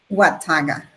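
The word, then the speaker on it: Watauga: How do you say the name? Wataga. Thank you so much. It's a Native American name.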